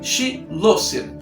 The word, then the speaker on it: Schloesser: elefante da sala logo como é que pronuncia o seu sobrenome outra sobrenome difícil schlosser schloesser chillest chulé Coelho trouxe esse negócio né E ele falou se pronuncia che lo ser então falou tá falado